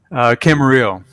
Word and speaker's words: Camarillo: Camarillo. Camarillo. Gotcha. The Spanish pronunciation.